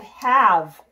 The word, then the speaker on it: have: I started sight word have have let's spell it h AV e have it fits our words in English cannot end in a V so it's a wonky at the end not hey've have strong